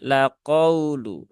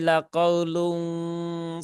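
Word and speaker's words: لَقَوْلٌ: ayat 9 tadi, maka haluskan membacanya tidak perlu ditekan berlebihan laqaulu ya, bukan laqaulu ya. Tidak perlu dipaksakan ya.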